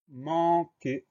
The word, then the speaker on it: manquer: Le son K s'obtient avec Q-U et le son E s'écrit E-R parce que ce mot-là est un verbe.